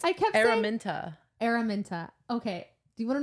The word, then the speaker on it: Araminta: Oh, it's Araminta. Araminta. Okay. Do you want to know something funny? What did you say? Amarantha?